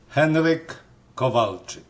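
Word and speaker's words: Henryk Kowalczyk: me actually first start how do you pronounce your name Henrik kovalic is Polish don't feel bad if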